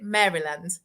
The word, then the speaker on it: Maryland: say it wrong but how is it Maryland Maryland like Marilyn Monroe Maryland we've um really